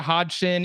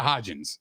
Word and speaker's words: Hodgins: Isaiah Hodgson and Richie James are not getting past Bradbury and Slay. Yo, say his name with a little bit of respect. It's Isaiah Hodgins.